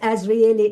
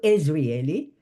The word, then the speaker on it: Azrieli: Now, at the time, I remember that I mispronounced Azrieli into Israeli.